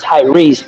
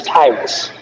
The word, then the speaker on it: Tyrese: So instead of Curtis, you roll your tongue with my name, and Tyrese is not his name is not pronounced Tyrese, it's Tyrus.